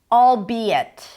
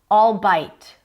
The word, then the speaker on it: albeit: So albeit. Albeit and not all bite and not allbeit. All be it. Three syllables. All be it.